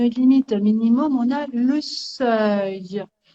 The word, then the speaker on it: seuil: minimum, on a le seuil. Attention à la prononciation, hein. mhm, Seuil, seuil, E-U-I-L-E-E, seuil.